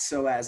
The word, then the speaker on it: psoas: I wrote here that so as muscle you see it's it's spelled with a PE but it's pronounced like with an S okay and it's right